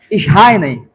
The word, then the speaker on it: Schreiner: Por exemplo, para os teólogos reformados, deve-se pronunciar assim, ó, Schreiner e Leon Morris, esse dom é, na essência,